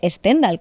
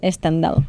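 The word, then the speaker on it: Stendhal: El síndrome mal dicho de Stendal, que me ha explicado Javier que Javier que no se dice así.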